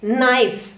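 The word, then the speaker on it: knife: буквой N стоит K то буква K не читается например в слове Найф нож най й как будто не существует нож най нож или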